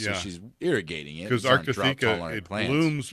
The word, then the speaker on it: Arctotheca: How do you pronounce that again? Arctotheca. Arctotheca.